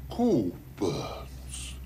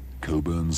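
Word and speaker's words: Cockburn's: No, we don't pronounce the C-K. Coburn's. So that is a clue? No, that's a clock. So? Sock. Coburn's Special Reserve.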